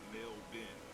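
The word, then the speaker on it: Melbourne: Well, in Australia, it's pronounced male bin. Somehow the R, the O, the U, and the E at the end is silent, and then there's an I added to the name.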